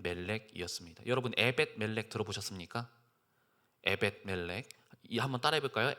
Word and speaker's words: 에벳멜렉: 에벳 멜렉. 한번 따라해 볼까요? 에벳 멜렉. 이름이 좀 생소하고 발음도 좀 어렵죠, 그렇죠?